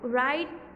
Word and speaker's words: write: The W at the beginning is silent. W जो है starting में वो साइलेंट है। तो write, wrap, ring, wrestle, रिस्ट,